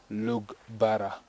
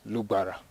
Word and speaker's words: Lugbara: Most of our colleagues from the southern part of Uganda usually pronounce it as Lugbara, but we don't pronounce it that way. We say Lugbara. So it's a glottal sound. It's from inside, Lugbara.